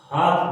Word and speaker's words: half: उच्चारित करें तो ये हाल्फ होता है, हाल्फ, लेकिन इसको हाल्फ नहीं कहकर हम इसको हाफ बोलते हैं। तो ये एल साइलेंट है।